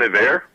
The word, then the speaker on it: Iver: It's technically pronounced Bon Iver.